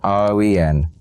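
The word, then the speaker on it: Awen: Owen, a Welsh word pronounced roen, was considered the very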